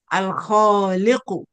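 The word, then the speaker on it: الخالق: So we pronounce the lam with sukun because kha is a moon letter.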